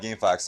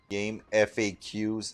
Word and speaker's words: GameFAQs: Borsa says, so who here pronounces it game FAQs and not game facts? Yeah, people who call it game FAQs, I don't know why. I will always call the game facts.